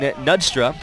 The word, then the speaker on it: Knudstrup: Here's Alexis Vargas chasing the ball out of bounds along with Christine Knudstrup. Got to pronounce the K.